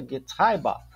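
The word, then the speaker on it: Getriebe: vai traduzir como transmissão mas se pronuncia get RBA o 211 pessoal a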